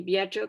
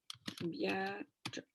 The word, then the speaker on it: viaggio: per il nostro y viaggio, como les había dicho, va a sonar como más bien así. Viaggio.